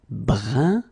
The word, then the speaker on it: brun: Then another example, brun, brun, okay, fin, brun, fin. So you write it differently, but then you pronounce it like the first one.